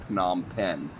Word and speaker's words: Phnom Penh: so far because they spell it like philosophy or Philadelphia or phonetics or phosphorus or whatever with ph right but I've actually heard some local guys see saying pom pen so I guess it's pronounced that way well why the [